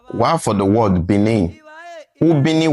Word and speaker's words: Benin: While for the word Benin, Ubini was the original word. Ubini was mispronounced by the earliest Portuguese as Benin. They removed the U and they wrote B-I-N-I, Benin. So in 2006, the father